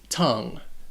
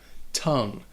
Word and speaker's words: tongue: all sorts of crazy first off it only has one syllable and that o sounds like a u tongue and it would rhyme with words like sung or rung or tongue lung tongue